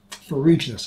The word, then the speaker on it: Ferruginous: Ferruginous. I was pronouncing that wrong earlier.